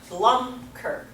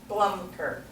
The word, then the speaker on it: Blumker: All right, how about Blumker? Blumker. And give a little lift to the first syllable.